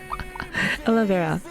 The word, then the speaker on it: Olivera: I always say her name wrong. Olivera. That's her. That's how you say that.